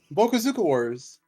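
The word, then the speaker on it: Bokosuka Wars: Bokusoka, I probably butchered that. Bokuzuka Wars. How do you say that, Iggy? Bokuzuka Wars.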